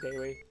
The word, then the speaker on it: Dewi: It's like I forget if it's Malaysian or Indonesian, but it's pronounced Dewi.